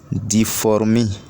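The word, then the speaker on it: difformis: Plus les racines d'Ancoman difformi. Les racines d'Ancoman difformi. Ancoman s'écrit ou s'appelle ANCHOMANES.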